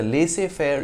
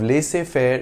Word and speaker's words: laissez-faire: The French pronunciation of laissez-faire is not too different from the English one, laissez-faire.